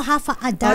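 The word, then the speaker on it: Håfa adai: m si hafa aday sabi niya haf pala yung basa do Sorry hafa akala ko hafa aday that's that's how you pronounce it pala half a day half a day means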